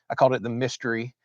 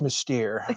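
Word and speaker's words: Mystère: And of course, I called it the mystery. And Miss Lee corrected me, said it's Mystere.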